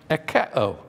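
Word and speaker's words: ἠχέω: is closely related to a word that's pronounced ekeo. Ekeo. My wife hates it when I pronounce Greek words and when I preach or teach. But echeo is where we get the word echo, okay?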